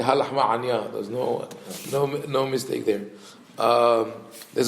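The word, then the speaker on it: Ha Lachma Anya: Lahmania on Pesach. You can eat, because in Hebrew Lahmania means bun. But that's if you don't pronounce the ayin. Only fits the Ashkenazim. We say halachma anya.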